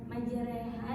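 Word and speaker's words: مجراها: Nah, pada lafaz majriha itu dibengkokkan, bacanya seperti dibengkokkan ya.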